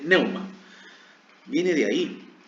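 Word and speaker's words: pneuma: Y de ahí viene de neuma, con P, neuma. No se pronuncia la P, entonces es neuma.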